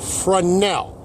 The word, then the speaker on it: Fresnel: Please, ladies and gentlemen of YouTube, take note how I pronounce this. Fresnel. The S is silent.